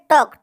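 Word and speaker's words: talk: इसको अगला है टॉक इसमें भी बेटा वक की तरह एल साइलेंट इसको कहते टॉक टॉक नहीं कहेंगे टॉक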